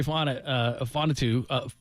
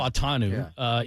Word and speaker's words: Fautanu: Their first-round pick was Troy Fonatu, I'm mispronouncing the name. It's Troy, the Fautanu. offensive lineman. Fautanu.